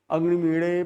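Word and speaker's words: अग्निमीळे: वैदिक पंडित का उच्चारण करते हैं अग्निमीणे पुरोहितम। तो मीणे जो बोलते हैं ना, वो तो न तो ड़ है न ही ल है, दोनों के बीच का उच्चारण है।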